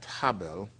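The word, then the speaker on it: Harbel: He was at Habel, Spell that for us.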